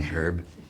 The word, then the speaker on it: herb: are Americans and Canadians forgive me for saying herb it's the proper way to say it by the way the Commonwealth way of saying it there's some herb there's some something missing